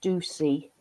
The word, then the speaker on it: Ducie: the lovely now how am I pronouncing your surname shall I let you introduce yourself properly okay thanks Sam hello everyone I'm Ducey and um tell us